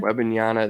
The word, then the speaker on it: Wembanyama: Wembanyama, then Scoot Henderson's young.